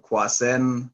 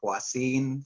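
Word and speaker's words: Kwasin: Some people may pronounce it, Quasen, but that's how I always pronounced it. But just over the years, talking to Christopher Paul Carey, I've learned that it's Quasine, so I'm just using that pronunciation.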